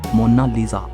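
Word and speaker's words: Monna Lisa: कोई इसे मोनालिसा कहता है तो कोई मोनालिसा कहता है, लेकिन इटालियन में इसकी करेक्ट प्रोनाउंसिएशन है मोनालिसा।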